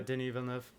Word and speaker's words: Denis Villeneuve: Yeah, Denis Villeneuve.